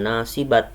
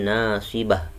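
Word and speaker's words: نَاصِبَةٌ: menjadi hak jadi bacanya bukan nasi babat tapi nasibah Hai menjadi hak Sukarni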